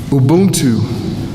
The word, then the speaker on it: Ubuntu: Everybody know how to spell it? U-B-U-N-T-U. T-U, not O-B. U-B-U-N-T-U. Ubuntu.